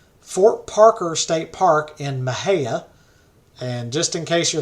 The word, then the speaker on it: Mexia: Parker State Park in Maha and just in case you're looking it up it's not spelled how it sounds Maha is actually me x a most folks think it's pronounced Mexia it's actually Maha the city of Waco